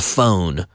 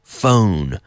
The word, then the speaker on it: phone: telephone and a member we have the pH which is pronounced like an F the phone phone phone this phone isn't mine